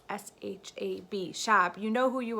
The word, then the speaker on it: Shab: I don't know if it's Shab. I'm from Chicago, so I pronounce everything with like a like Shab, but I think it's actually Shab.